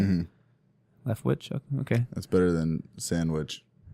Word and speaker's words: Leftwich: Leftwich?